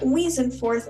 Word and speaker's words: Weasenforth: In this episode, Weasenforth, is that the right way to say your last name?